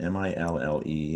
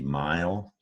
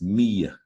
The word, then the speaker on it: mille: Now, the root word of millennials is an old Latin word, M-I-L-L-E. It looks like you want to say mile. It went from Latin to the French language where it's pronounced mille, mille, and it means in French the number 1,000.